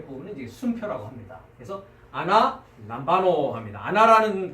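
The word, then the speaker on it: ἀναλαμβάνω: 연관 단어들을 우리가 한번 발음 연습을 좀 해보도록 하겠습니다. 자, 353번. 아나 람바노. 네, 그렇습니다. 아나 람바노.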